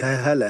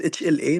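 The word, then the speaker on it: HLA: accepted ab abbreviation and you just read the the the letters it's not like hala hala what what I mean by by abbreviation something you can mention it which is accepted to pronounce it so ha yes h l a but you cannot say hala okay in dears I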